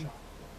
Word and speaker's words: Schott: Schott.